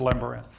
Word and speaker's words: Lambaréné: That's what he pronounced it, Lambaréné.